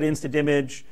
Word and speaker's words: InstaDMG: Well, that's because the joy of Twitter, I asked Per what his preferred pronunciation was, because with InstaDimage, the creators called it InstaDimage. I started calling it InstaImage because I didn't want to spit out the D every time.